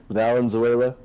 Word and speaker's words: Valenzuela: How do you pronounce it? Valenzuela.